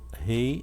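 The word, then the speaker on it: ה: O Rei, ou Re, Rei ou Re. Esse Rei, ele tem um som de H, mas ele normalmente é mudo, um H mudo.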